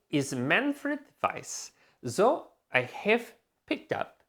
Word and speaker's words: Weiss: go by Miami Weiss it is pronounced vice vice really and you've